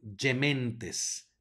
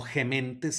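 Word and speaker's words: gementes: sino Eve luego tenemos una G que sigue que está seguida por una e se va a pronunciar como y por lo tanto yementes no ghementes sino dementes luego tenemos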